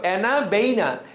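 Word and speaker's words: Anabaena: করে কে নষ্টক এবং অ্যানাবেনা অ্যানাবেনা বানানটা দেখো অ্যানাবেইনা BAENA তাহলে তুমি উচ্চারণ করো নষ্টক অ্যানাবেইনা তাহলে আর বানানটা ভুল হবে না নষ্টক এবং অ্যানাবেইনা এসে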